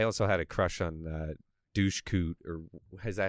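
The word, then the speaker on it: Dushku: So I saw that a ton of times, and I also had a crush on Douche Coot, or is that how you supposed to say her name? Yeah, Eliza Douche Coot.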